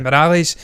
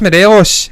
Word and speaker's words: Morelos: They say Yeah. Morales. It's just Morelos.